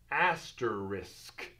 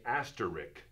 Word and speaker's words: asterisk: a few different directions asterisk oftentimes we will mispronounce this and say asterik asterik now there was a